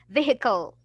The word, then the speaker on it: vehicle: There is no H. You will not pronounce the H, and it will be vehicle.